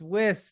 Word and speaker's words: Wiss: gonna get this wrong whis you got it thank you I got nervous for a minute so many people get my last name wrong it's whis thank you thank you my